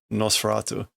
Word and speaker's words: Nosferatu: We get Fushimono or Fushisha, the undying one or undying person, but it is pronounced here Nosferatu.